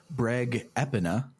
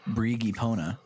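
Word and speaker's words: Breg Epona: So let's listen to the Breg Epina, not the Brigipona, as I thought it was going to be pronounced.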